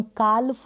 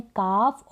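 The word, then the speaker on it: calf: हम काल्फ और हल्फ नहीं बोलते, हम बोलते हैं काफ और हाफ, सही उच्चारण यही है।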